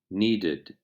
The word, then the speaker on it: needed: it we they cried when ed is added to verbs that end in d pronounce the last syllable separately for example the simple